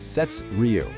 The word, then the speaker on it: SeTsRyu: That's pronounced Sets Ryu.